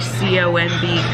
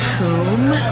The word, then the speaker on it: comb: Like tomb doesn't rhyme with comb, but it's spelled the same, like T-O-M-B tomb. And then he's like C-O-M-B coom. No, C-O-M-B comb.